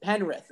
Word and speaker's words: Penrith: Is that how you pronounce it? Penrith.